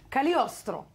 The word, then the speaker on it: Cagliostro: How do you spell it, Cagliostro? No, God, that's so shallow of me, I know. Cagliostro.